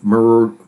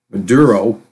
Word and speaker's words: Maduro: personal hygiene stuff there were sanctions put on Muro Muro or honey pronounce his name Maduro because he wouldn't play ball with Big Oil